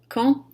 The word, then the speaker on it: quand: Por exemplo, a frase elle peut quand elle veut. Ela pode quando ela quiser. Aqui, se eu decidir fazer a liaison, o D no final da palavra quand vai se pronunciar como se fosse um T.